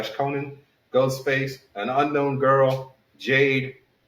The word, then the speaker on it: Conan: Ghostface from Scream and Conan the Barbarian. So, Ghostface... You said you're going to butcher that name wrong, huh? What, Conan the Barbarian? Ghostface from Scream? No. Who's name? It's Conan. Not Conan.